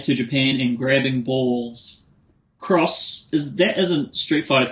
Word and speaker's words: cross: It is something where the case it's an X and so you would you might look at it and read it as being an X but it's actually meant to be pronounced cross, right?